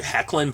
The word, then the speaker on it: Hoechlin: I was has Tyler, I always say Tyler Hoechlin, but I think it's pronounced properly Hecklin, but I could be wrong.